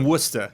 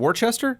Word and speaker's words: Worcester: no, you Worcester. say it There's wrong. also Worcester. I'm saying you are saying your name wrong. You mean Worcester?